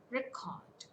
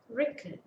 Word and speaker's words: record: Similarly, let us take another example: record, record, noun, record, verb, record, noun, record, verb.